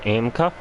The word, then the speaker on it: AMCA: how you spell that it's pronounced amka and Street stocks in